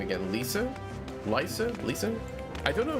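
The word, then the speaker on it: Lyse: Oh, okay. Lice. Oh, okay. Dutch pronunciation. Thank Thank you. Lies.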